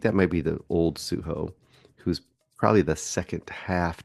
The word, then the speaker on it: Sujo: here this week is suo see I said it wrong suho directed by astd I'm